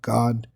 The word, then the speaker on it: Gad: Dan the tribe of Gad or as it is pronounced properly God which are the Native American Indians.